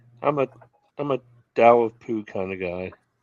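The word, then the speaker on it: Tao: It It's spelled T AO, but it's pronounced Dao.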